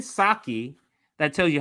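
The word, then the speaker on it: Psaki: the 37 number so um jin is saki right the p asylum jin saki that tells you how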